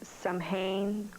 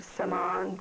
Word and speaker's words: Samhain: Now, the 31 is known as Samhain or Samhain, depending on how you pronounce it.